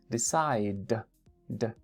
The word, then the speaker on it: decided: Decide is number 3, porque termina con d, ¿no? Decide. Mark, es que termina con e. Así es como se escribe. Acuérdense que estamos viendo cómo se pronuncia. Decide. D, d. D es el último sonido. ¿Okay? Si terminan d o t, entonces es la tercera categoría. Id. Decided. Decided.